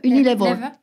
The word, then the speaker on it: Unilever: Paul Polman, qui a été CEO de Unilever. Unilever. Lever, ouais. C'est ça, Unilever. Je ne savais pas comment vous le prononciez en France.